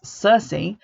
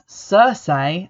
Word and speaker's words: Circe: vocal which has been identified as Circe although everyone in the film pronounces it as Cersei and I refuse to